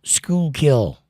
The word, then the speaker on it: Schuylkill: And Linda says, it's pronounced Schuylkill.